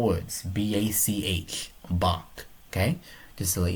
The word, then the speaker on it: Bach: It's down below too, but it's spelled easy. So it's only 4 words. B-A-C-H.